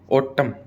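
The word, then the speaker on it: autumn: ठीक है कोलम कोलम थोड़ी बोलते हैं कोलम ऑटम क्या बोलते हैं ऑटम सोलम है ना सोलम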